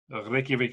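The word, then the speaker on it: Reykjavík: Reykjavik, Iceland. Good. I'm turning into an Icelander here. You are. Yes. Very good pronunciation.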